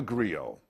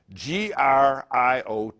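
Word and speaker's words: griot: you a brief history I'm a Grio g r IO T well we don't pronounce the T it's silent Grio Grio are Master storytellers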